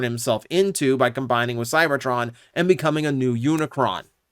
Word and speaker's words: Cybertron: pronounced in weird ways like Cybertron is consistently pronounced cyberton weird little situations like